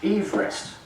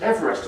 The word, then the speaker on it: Everest: better he's descended from a man called George Everest who was the surveyor and used to get very annoyed that his name was mispronounced as Everest all the time and he never actually saw